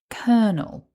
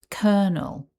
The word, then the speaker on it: colonel: And if we put all of that back together, the word is kernel with the stress on syllable one. Repeat after me. Colonel.